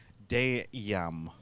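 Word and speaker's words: dayum: make things up, and it's going to be Dayam. Dayam. Oh, damn. Damn. Damn. So, damn. But it's spelled D-A-Y-U-M.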